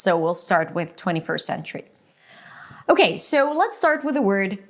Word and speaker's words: century: This word has two syllables. The primary stress is on the first syllable sen. And then the second syllable is ch tree tree. So it's a ch sound, an r, and a high e. Tree.